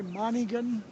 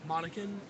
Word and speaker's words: Monacan: So did you say Monaghan? Monacan, How do you spell that's it?